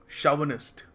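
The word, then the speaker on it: chauvinist: तो इसको देखो को सही तरीके से प्रोनाउंस करने का तरीका है शव निस्ट शव निस्ट ठीक है तो यह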